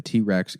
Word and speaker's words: TRX: everyone's like can't pronounced T-Rex no I'm it's pronounced T-Rex oh I'm so stupid I didn't know that